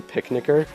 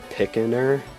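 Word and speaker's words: picnicker: call and the originals was a picnic er I heard I'm pretty sure I pronounced it picking her for the longest time before I actually stopped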